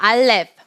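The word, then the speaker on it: אלף: 이름은 알레프입니다 따라해 볼까요 알렙 알렙 한번 나 알렉스 알레프는 알레프라고 발음하셔도 되고 알렙이라고 발음을 하셔도 됩니다 일단은 발음과 여기 이제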